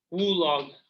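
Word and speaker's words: WLOG: WULOG. Is that the official pronunciation of it?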